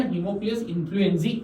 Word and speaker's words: Haemophilus influenzae: इसका proper name pronunciation Haemophilus influenzae ऐसा भी हम कहते हैं, बराबर।